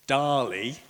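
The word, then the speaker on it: DALL-E: So in 2021, OpenAI launched Dali, and it's spelt sort of like Wall-E, which I'd never seen.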